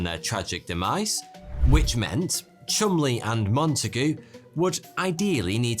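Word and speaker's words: Cholmondeley: without being murdered by germans intelligence officers charles chumley yes weirdly that is how you pronounce that and you and montagu were tasked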